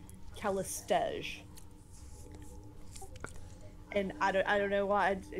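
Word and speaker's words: Callistege: So apparently I had always been pronouncing the name of the woman in red with the mirror images as Castiliga. And then I started hearing other people pronouncing it, you know, in conversation, and everyone else I ran across pronounced it Calistege.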